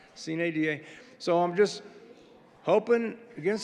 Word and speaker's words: sine die: And it is pronounced, I believe, Sine Die. Am I getting it? Okay. That's correct. Not Sine Die, Sine Die.